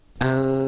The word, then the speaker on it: أنبتنا: The correct way to say it is anbatna. Okay? So repeat after me, Usama. Anbatna. Anbatna. Okay, now the temptation, the very strong temptation will be close your lips.